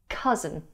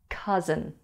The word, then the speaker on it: cousin: So they don't recognize a word like cousin, when they would easily understand the word written down. There's just one vowel sound in the first syllable of cousin. Cuh, cuh, cousin.